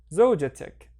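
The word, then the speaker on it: زوجتك: And remember, the ta marbuta turns into a regular T, zawjatik.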